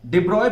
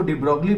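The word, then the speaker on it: de Broglie: वैसे आप इसको डिब्रॉगली पढ़ते हैं, बट करेक्ट प्रोनाउंसिएशन इसका डिब्रॉय है.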